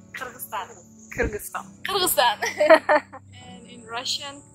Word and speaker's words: Kyrgyzstan: Like, English pronunciation is Kyrgyzstan, but we say Kyrgyzstan.